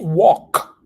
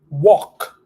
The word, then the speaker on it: walk: all righty then repeat walk walk and walked Walked you see that we barely pronounce the the letter L over there we don't pronounce the L that much in this word we're gonna say walk